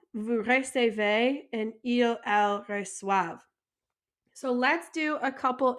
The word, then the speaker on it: reçoivent: So a little quick pronunciation, we have je reçois, tu reçois, il, elle, on reçoit, nous recevons, vous recevez, and il, elle reçoivent.